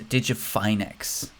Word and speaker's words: DigiFinex: i guess it's a digifinex exchange i believe it's finex because it's like finance fine next i think that's how you pronounce it um march ended with